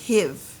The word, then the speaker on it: hive: Right now it's the word hive, right? Iv. But then we add that silent E at the end. It changes it to an I sound.